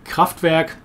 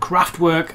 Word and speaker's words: Kraftwerk: will probably say immediately kraftwerk or rather craft work as the english tend to pronounce it the definitely the